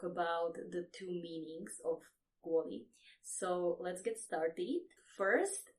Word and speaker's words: kvôli: So it's a soft sound or a palatalized sound. It happens because the L is followed by I. So li, kvôli.